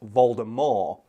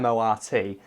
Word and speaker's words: Voldemort: all people don't know Voldemort is actually supposed to be pronounced Valda more guess the the French word for death is what Baltimore's name comes from which is more awesome that or mor T and I believe in